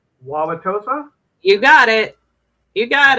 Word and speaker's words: Wauwatosa: Wauwatosa?